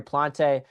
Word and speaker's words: Plant: I keep calling him Plante. I apologize. It's Plant.